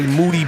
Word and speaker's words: Moody: the voice of G moody last name rhymes with duty of course the three